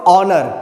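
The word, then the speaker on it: honour: अब आप इसको पढ़ के देखो, हालांकि एच से लिखा हुआ है लेकिन इसका उच्चारण कैसे करते हैं हम लोग, इसको ऑनर, कैसे उच्चारण करते हैं इसका, ऑनर।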